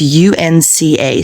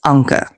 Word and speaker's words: Anka: in this country but my name is pronounced if you look at it fanatically it's UNCA so it's Anka Anka so sorry for that